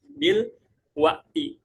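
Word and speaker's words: بالوقت: artinya apa sekarang ya bil watti dibacanya bil watti juga biasa Orang Mesir bilang Alan tapi k jarang gitu.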